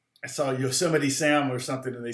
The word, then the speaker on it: Yosemite: me than than uh yosemite okay or yo smite as i called it for years i didn't know until i i was like i saw yosemite sam or something and